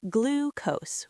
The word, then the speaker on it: glucose: It's pronounced glucose with a long oo sound, like in the word blue.